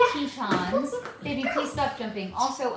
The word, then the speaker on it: Tetons: It's pronounced Tetons.